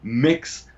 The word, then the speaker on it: Mx: be referred to as mix breast sick seriously MX as opposed to Ms pronounced mix Bres ik and she's